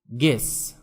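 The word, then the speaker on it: guess: Silent U, গেস মানে অনুমান করা।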